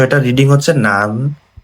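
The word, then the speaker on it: 南: তো এটা রিডিং হচ্ছে নান বা না বা মিনামি।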